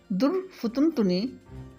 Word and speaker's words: درفطنی: حوالہ بھی دوں گی۔ در فتن تنی، اس کا تلفظ ہے دال، فے اور توئے پر پیش ہے، جیسا کہ میں ادا کر رہی ہوں۔ در فتن تنی، اس